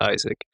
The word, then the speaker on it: Isec: or Isaac and Isaac it's spelled ISEC you pronounce it Isaac and so visually it's